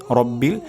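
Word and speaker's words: ربِّ: আলহামদুলিল্লাহি তারপর শব্দটি হলো রব্বিল রব্বিল এখানে র মোটা হবে রাব্বিল হবে না রব্বিল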